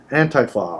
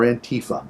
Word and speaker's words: Antifa: Antifa or Antifa. Yeah, I was going to say, you can pronounce it 2 ways.